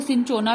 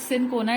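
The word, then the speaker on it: cinchona: है, from bark of सिनकोना plant, वहां से हम एक्सट्रैक्ट करते हैं क्विनिन को। जो सिनकोना प्लांट होता है, कुछ बच्चे इसको सिनचोना भी कहते हैं, बट सिनकोना is more right word.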